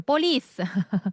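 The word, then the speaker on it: police: 자, 그다음에 피발음은요. 뽀뽀 할 때 그 쌍 비읍 소리입니다. 자, 서가부터가 보죠. 빰 빰. 음. 경찰 불러. 리스. 리스. 이때도 너무 된 소리로 숨을 없이 발음하시면 이제 이탈리아가 되는 거죠. 폴리스. 아레라리어요. 이렇게 되는 거니까 우리는 조금 그거보다는 피읍과 쌍비읍의 가운데 소리라고 생각을 하시면 돼요.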